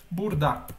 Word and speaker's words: burada: Então aqui a gente escreve burada, só que a gente pronuncia burda.